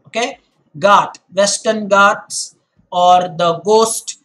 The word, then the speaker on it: ghat: Guys, this word here is ghat. Okay? Do not pronounce it as ghat. In English, there is no gh sound. When you are doing it in English, always remember it's the g sound.